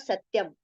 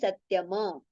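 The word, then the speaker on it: सत्यम्: It is not satyam, it is satyama.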